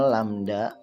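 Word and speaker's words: lambda: gelombang panjang gelombang yang disimbolkan dengan ini dibacanya lamda yaitu panjang jarak untuk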